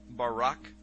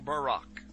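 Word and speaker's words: ברק: a flash of light in Hebrew is pronounced Barack or Barack now consider this amazing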